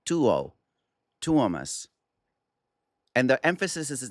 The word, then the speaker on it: Tuomas: It's not Tuomas, it's not Tomas, it's Tuomas. Just like if you see the word duo, d u o, duo. This is t u o, Tuo. Tuomas.